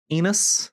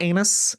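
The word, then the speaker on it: Enus: uh excuse me who Enos Enos Enos not anus Enos how do you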